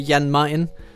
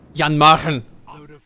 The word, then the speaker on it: Jan Mayen: I'm unsure of exactly how to pronounce it, but as a Dane, I would say Jan Mayen.